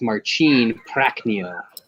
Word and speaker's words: Marcin Prachnio: You need to switch the way you pronounce it. It's Marcin Prachnio.